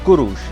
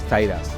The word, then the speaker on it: সাইরাস: সাইরাস দ গ্রেটের আসল নাম ছিল কুরুশ যা গ্রিক বা পাশ্চাত্যের পন্ডিতের উচ্চারণে হয়ে ওঠে সাইরাস।